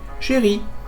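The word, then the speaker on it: chérie: It doesn't change the pronunciation by the way. Sherry sherry.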